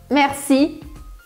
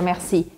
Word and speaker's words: merci: Só que aqui você pode até usar uma técnica de pronúncia para você soar bem francês mesmo, que é colocar um certo ar na palavra merci. Então, às vezes, os franceses, ao invés de falar merci, eles colocam um ar na palavra e fica assim, merci, merci, merci.